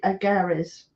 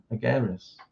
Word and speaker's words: Agares: Well, I think some people could call him Agares, but he's actually got a little tick over the E in the end. So I was on the understanding it was Agares.